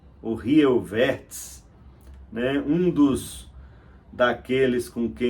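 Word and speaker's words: Jan Rieuwertsz: Mas seria o holandês, me parece que a pronúncia é próxima do alemão, seria Jan Rioiverts, ou Rioiverts, né?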